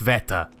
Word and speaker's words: Sveta: Oh, someone did correct me again on Sveta and say, oh, it's pronounced Sveta. Sveta. Sveta? Just an emphasis on the S, I guess, is what they said.